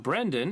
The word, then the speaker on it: Brendan: fraiser who brandon fraiser brendan not brendan is it Brendan I thought it was brandon fraiser I don't know I can't I can't spell it's Brendan Wren Brenden with it brend and that brandon huh Wow I've been screaming wrong for ever Brandon's his cousin I